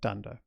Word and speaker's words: dunder: They start with 2 underscores, they end with 2 underscores, and we pronounce that dunder.